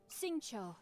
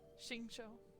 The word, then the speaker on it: Xingqiu: I keep forgetting how to pronounce his name. Xingqiu, at your service, my liege. I humbly trust that even one such as I... Xingqiu.